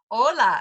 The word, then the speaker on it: hola: this word Hola okay hola again we're ignoring the H there and it's hola so if you're brand